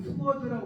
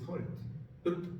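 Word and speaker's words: sword: 이걸 어떤 사람은 발음하라고 하면 스워드라고 말하면 스워드가 아니고요. 설드.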